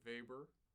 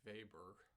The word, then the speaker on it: Weber: Our last big piece is very appropriately a Weber. You pronounce this guy's name Carl Maria von Weber, not Carl Maria von Weber, which is what I would have said the first time that I saw it.